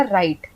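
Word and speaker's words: right: राइट तो यहां पे हमने आरआईजीएसटी में ग साइलेंट हो गया हमने बोला राइट हमने राइट नहीं बोला फिर अगर ऐसे नॉर्मली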